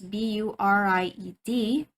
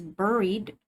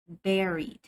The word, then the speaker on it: buried: be to bury the dead okay this one is spelled as b-u-r-i-e-d you read it as buried but this is pronounced as buried buried okay can you say it buried all